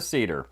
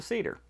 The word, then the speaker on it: Seder: But first I want to talk about the Seder. The Seder, or Seder, as some like to pronounce it, is one of the most common Jewish rituals.